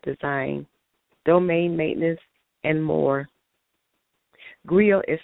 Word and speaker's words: Griot: Just to add a few more things to the list of things that I do, I am the founder and CEO of Griot Publishing House and Griot International, LLC, as well as the Right Cipher.